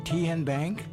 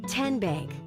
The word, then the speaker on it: TN Bank: How do you say the name? TN Bank? Nope. Tin Bank? So what is it? 10 Bank. 10, as in Tennessee.